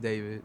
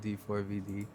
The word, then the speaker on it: D4VD: Um, pronounced David, not D4VD.